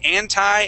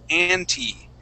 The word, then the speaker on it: anti: Now, there is two ways that we can say the word anti. We can say anti as well as anti. Either way is fine.